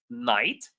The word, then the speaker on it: knight: The knight, the K is silent.